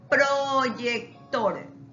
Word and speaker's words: proyector: Ahora, proyector. Proyector. La sílaba tónica está al último.